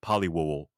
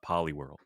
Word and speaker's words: Poliwhirl: something about the saying poly world i would pronounce it like poli-wol and i remember i i was motivated to learn how to pronounce my r's when i was younger because of poliwhirl so i have to i'm indebted to poliwhirl